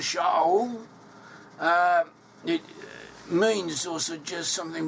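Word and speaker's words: שאול: The name Saul in Hebrew is pronounced as Shaul.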